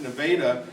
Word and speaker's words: Nevada: ton called Nevada Iowa now it's written like Nevada but in Iowa they pronounce it Nevada the worried you might